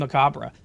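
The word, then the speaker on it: macabre: Webster the pronunciations there's maab and macabra so technically Mariam Webster says macabra is not wrong anyways means having death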